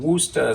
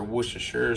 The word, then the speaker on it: Worcestershire: A little bit of garlic, some Worcester sauce or Worcestershire sauce, depends on how you pronounce it.